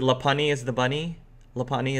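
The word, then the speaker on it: Lopunny: pani is the bunny laponia is how you pronounce the bunny Pokemon she's got bunny makes a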